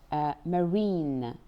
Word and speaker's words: marine: Marine, the common pronunciation is ein, but in some words you will find that it change into like this marine.